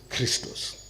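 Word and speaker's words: Χριστός: XP in Greek is XP and it is pronounced Christos and it means the Divine Light and life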